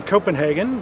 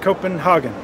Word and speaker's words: Copenhagen: Center's Environmental Change and Security Program here in Copenhagen, where the site of the December Conference of